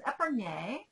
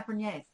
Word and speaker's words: épergne: Fostoria Candelabra vase, crystal prisms, épergne. No. Why do I say it like that? I'm just going to... Épergne. I always used to call them épergnes.